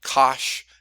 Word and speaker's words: cosh: Sometimes they'll pronounce it sinh, even though there's not a C in there, where cosine, hyperbolic cosine would be cosh.